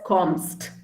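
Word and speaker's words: kommst: for do commas yeah you pronounce it as comst there's no e no so instead of e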